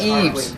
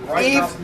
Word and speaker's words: Yves: all my name is Eve and it's French I definitely have to drop the ass people it is Eve not EES I'm the only guy